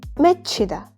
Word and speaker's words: 맺히다: chu plus hu is going to be pronounced as ch, 맺히다, to form, gather.